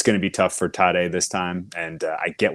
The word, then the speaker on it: Tadej: Our favorite right now is Tadej Pogačar. If you are seeing that name and wondering how to pronounce it, it's Tadej, like Tadej, and Pogačar, even though there's no H in there.